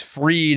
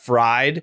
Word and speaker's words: Fried: He just genuinely didn't know that it was Freed and not Fried.